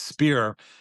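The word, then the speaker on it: Spier: It's Spear. S P I E R I think is how you spell it.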